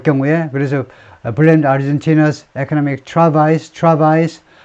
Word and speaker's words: travail: blame 뒤에 어떤 때는 on이 나오냐면 something이 먼저 나올 경우에 그래서 blame Argentina's economic travails 불어입니다. 불어. 그래서 travail 이렇게 발음하죠.